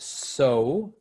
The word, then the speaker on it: sew: e w so yeah s e w is pronounced so and it means you